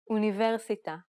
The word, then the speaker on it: אוניברסיטה: However, many foreign words in Hebrew have been modified to have different stress patterns. They may even use different sounds altogether.